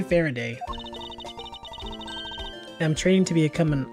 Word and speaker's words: Faraday: from Michael faray and Michael far's name is pronounced like this Michael Faraday so maybe it's